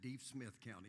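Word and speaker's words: Deaf Smith County: Country Club and Golf Course, and that's in Deep Smith County, and yes, that is the way it's pronounced.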